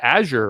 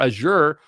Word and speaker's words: Azure: Let's talk about Azure or Azure. Notice that I say it two different ways because there is no right way to say it.